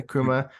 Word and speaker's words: Nkrumah: Not only is the president, and please correct me if I say his name wrong, Nkrumah. Is Nkrumah? that how you, Nkrumah? Yeah, Nkrumah, more progressive because he's for the people.